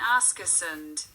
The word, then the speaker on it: Askersund: don't think they don't Ask us and Sweden Ask us and pronounced with the emphasis on the last syllable is an urban area